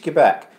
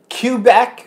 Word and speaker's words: Quebec: of our proximity to Quebec that was the one they couldn't say they were calling it Quattrone Aquabats Kubek or Quebec Quebec no no no